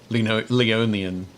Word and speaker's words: Leonin: Oh, Mike Becker says Leon instead of a Leonin video producer. Leonian. There we go. Leonian video producer. Yep. Yeah, I know I said it wrong.